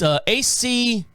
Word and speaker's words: achromatopsia: It's achromatopsia. So let's see. What is it? Achromatopsia. One more time. Achromatopsia.